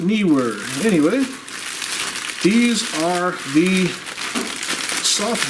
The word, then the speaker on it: Neewer: we held the knee were but he was pronounced knee were I often pronounced in Newark but believe it's pronounced knee were anyway these are the soft boxes for my